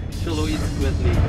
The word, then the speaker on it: Xoloitzquintli: Xoloitzquintli. Xolo eats quintly. Xoloitzquintli.